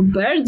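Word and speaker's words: Byrd: Estońska książka to była Alex Nigdy nie wiem, jak wymawia się jej nazwisko. Bird, Bird. Pisze się B-Y-R-D. To jest taki ptak tylko z Y.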